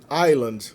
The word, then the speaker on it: island: Island é ilha. O S é completamente fantasioso aí na ortografia.